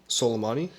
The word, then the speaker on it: Soleimani: and assassination of Soleimani.